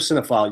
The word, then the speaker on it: Cinephile: He said, people are messing up the pronunciation. I said, well, if you're a cinephile, you would know how to spell it. But it is Cinephile, not with an F or Sine.